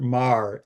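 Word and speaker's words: Magher: Uh um but uh there's a guy Robert Maher, M A G H E R. Yes, that's called Mar pronounced Mah, an Irish name wrote a book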